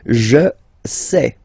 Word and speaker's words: je sais: Je sais. Okay, final S not pronounced, and then you get this A-I-E.